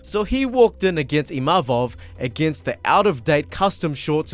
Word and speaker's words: Imavov: My name is Imavov. It's not Imamov, Imavu, je sais pas quoi. Imavov.